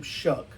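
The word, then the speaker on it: Shough: I'm happier with Shuck than I would have been with Shador.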